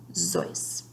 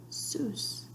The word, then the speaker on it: Seuss: Ted had always pronounced his name in the German fashion Suess, but most of his readers said Seuss. Ted liked that this rhymed with Mother Goose, so he started saying Seuss too.